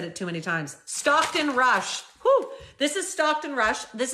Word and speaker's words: Stockton Rush: um stock sounds funny when I'm saying it stop Rush am I saying it right rushed it no my God hold on I'm saying his name wrong now I've said it too many times Stockton Rush this is Stockton Rush this is him inside